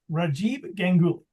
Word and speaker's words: Rajib Gul: it wrong when I announce you tonight it's rajib Gul okay and we have we have Kenneth okay